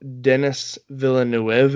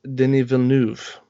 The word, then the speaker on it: Denis Villeneuve: to our dear listeners I have pronounced that perfectly for anyone who is French because when you look at his name he's a pretty decent director a lot of people go Denis Villeneuve a or Denis Villeneuve